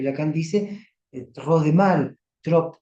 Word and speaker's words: trop: dice, trop de mal, trop, con P, no se pronuncia la P, penar en demasía.